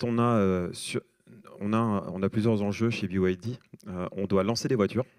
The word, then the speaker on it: BYD: Donc c'est bien BYD, parce que c'est un acronyme anglais qui signifie Build Your Dreams.